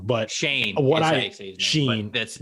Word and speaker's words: Schoen: last name wrong, but Shane. Sheen. That's it's very confusing. Like, it doesn't look like Shane at all, but it doesn't at all. Yeah, that is the way it is.